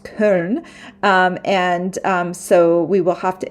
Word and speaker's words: Köln: train from Frankfurt to Köln. It's in English they have changed the name to Cologne, but in Germany it's pronounced Köln, so we will have to.